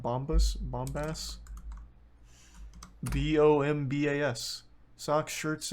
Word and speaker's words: Bombas: nice socks they're um Bob bombus bombas uh something like that my parents got